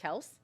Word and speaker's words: Kelce: We only need to know Travis Kelce. Because apparently, no. It's Kelsey. I don't care. That's how Jason Kelsey says it.